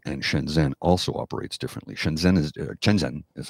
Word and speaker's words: Shenzhen: Shenzhen is how it's pronounced. Shenzhen is how it's spelled.